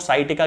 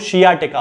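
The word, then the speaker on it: sciatica: है यानी कि साइटिका, जिसे आप लोग साइटिका कहते हैं, वास्तव में उसका जो प्रोनाउंसिएशन होता है वो शियाटिका होता है क्योंकि शियाटिक नर्व से शियाटिका बनता है।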